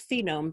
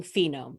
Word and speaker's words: phoneme: fish, they place a token in a box for each phoneme they hear. I'm mispronouncing phoneme. It's actually phoneme.